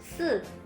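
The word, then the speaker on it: 四: Oke, bedakan ya. 4, 4. 4. Jadi suaranya kayak runcing gitu, teman-teman. 4. Kalau 10, 10. 10. Lidahnya ditekuk ke belakang.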